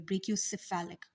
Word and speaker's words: brachiocephalic: internal jugular और C से को आप S समझ ले तो subclavian vein, ठीक है, because C is pronounced as S over here, brachiocephalic, okay।